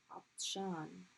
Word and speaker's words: عطشان: عطشان. Not عط, but عطططة. It's a heavy.